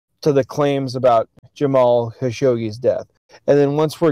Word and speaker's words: Khashoggi: Khashoggi, man. Khashoggi.